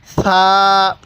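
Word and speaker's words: ثاء: এই হরফটির নাম হলো সা। সা। এই সাটা একটু নরম করে হবে।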